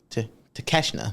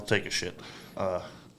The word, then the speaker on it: Takeshita: Our old pal, take a shit. Is that not how you spell his name? That is how you spell it, but that's not how it is pronounced.